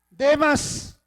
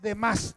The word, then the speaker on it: Demas: Demas no es de más. No tiene acento en la última A.